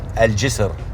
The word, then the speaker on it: Al Jisr: But I wanna make sure I say jizzle right, because if I say that wrong, Al Jisr. How do you spell that? Al J-I-S-R. Al Jisr. Jizr.